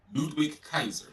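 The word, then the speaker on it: Ludwig Kaiser: How you pronounce his name again? Ludwick Kaiser. Ludwick Kaiser.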